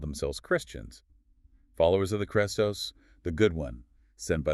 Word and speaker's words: Chrestos: All right, the first word is Chrestos, spelled with the Greek letter eta, which is like a long E sound, though pronunciation varied.